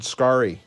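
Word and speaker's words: Scarry: all say it wrong richard scary i think is richard skari no yeah i can't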